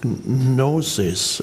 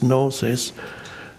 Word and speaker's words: gnosis: There's an ancient term in early Christianity, gnosis. I think it's spelled G-N-O-S-I-S, and I believe the G is not pronounced.